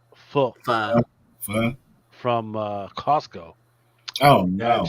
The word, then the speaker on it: pho: I bought some pho. That's not how you say it. Pho.